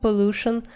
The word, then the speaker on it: pollution: или сильное загрязнение слово pollution используется в значении загрязнение читается именно так ударение на второй слог соответственно можем образовать прилагательное